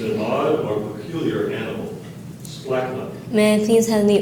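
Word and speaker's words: splacknuck: The word is splachnuck. Splachnuck. Sorry. It's a noun. It means an odd or peculiar animal. Splachnuck.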